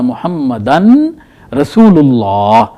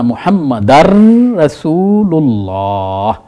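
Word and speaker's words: مُحَمَّدًا رَّسُولُ: अशद अन्न मुहम्मदान रसूलल्लाह तो यहां भी आप क्या मुहम्मदान नहीं पढ़ेंगे आगे चूंकि रे आ गई है उसने इस तनवीन की आवाज को खत्म कर देना है तो हम पढ़ेंगे अशद अन्ना मुहम्मद रसूलल्लाह अशद अन्ना मोहम्मद रसूल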